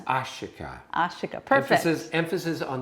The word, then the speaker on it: Ashika: me how it's pronounced it's ashika my first name is ashika so my practice name